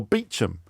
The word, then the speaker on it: Beauchamp: Often their own names, like Chumley, which is pronounced Cholmondley, or Beecham, Beauchamp, which is spelled Beauchamp.